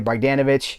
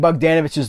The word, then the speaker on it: Bogdanovich: Like someone's like, you're saying Bogdanovich's name wrong. You have to put the emphasis on Bogdanovich. If you don't say Bogdanovich, you've screwed up his name.